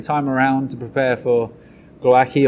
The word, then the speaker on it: Glowacki: Yep, second time around to prepare for Glowacki or Glowacki as you say it properly.